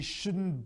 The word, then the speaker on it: should: not like you shouldn't watch tv uh she shouldn't buy that old car he shouldn't arrive in rally until tomorrow pronunciation tip the i in should is silent